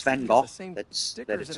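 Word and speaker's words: Van Gogh: Van Go the the I think it's Van Go that's that is pronounced Van Go the the painter.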